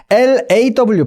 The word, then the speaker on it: law: L-A-W, 법, L-A-W는 그 중간 소리, O와 어의 중간 소리, open O가 됩니다. law가 될 거고요.